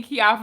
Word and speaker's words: Keioffa: the answer i know my mama named me kia offer and it's a wine it's just not spelt the way that you know the wine is spelled she changed the spelling